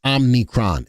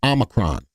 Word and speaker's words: Omicron: you saying it wrong it's not omnicron it's Omicron you don't say it right stop saying it all right so it's